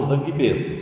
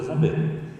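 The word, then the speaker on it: Zangbeto: Vocês leem errado como zanguebeto, só que se pronuncia zambeto.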